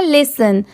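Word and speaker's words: listen: यहां पर भी देखिए एल आई एस लिस होता है और टी ई एन यहां पर इसकी प्रोनाउंसिएशन टेन नहीं है इसे हम क्या प्रोनाउंस कर रहे हैं लिसन तो यहां पर टी की साउंड स की आ रही है।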